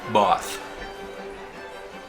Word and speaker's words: Bath: The first major city in our itinerary was Bath, pronounced Both.